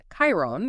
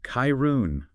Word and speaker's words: Chiron: And uh pronunciation wise, it's Chiron, right? With a hard K sound. That's right. Chiron.